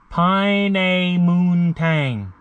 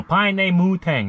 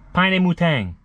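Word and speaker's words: Pinaymootang: the sign right there pine a moon tang no pine mutang no n in there paine mutang tang it's uh it's a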